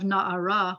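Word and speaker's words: נערה: is a young guy and we now have na'ara where you're adding ah to the end of the word and it becomes a young woman accents on the last syllable there's a composite vowel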